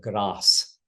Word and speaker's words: grace: The sopranos and altos are singing um what we would today say hail Mary full of grace but in the medieval we pronounce hail Mary full of grass hail Mary full of grass is how they'll be singing it uh on hail Mary